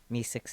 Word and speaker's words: MI6: No, mean it's pronounced MI6? Sure, but Mi-6 is funner.